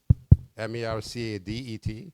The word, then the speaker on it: Mercadet: So the first presenter for this morning will be Ms. Alyssa Mercade, or Mercadet, but pronounced in French, Mercade.